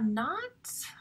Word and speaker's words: knot: He tied a knot. I remember that is actually spelled with a silent K.